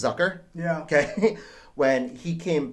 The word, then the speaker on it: Zucker: back zuker zucker uh exactly pronounced last name it's one of the easy ones that you hear the different announcers say it differently i think it's zucker yeah okay when he